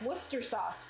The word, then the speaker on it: Worcestershire: sniffing it that's hilarious the Shire and Worcestershire isn't spoken it's pronounced like Worcester sauce really oh my gosh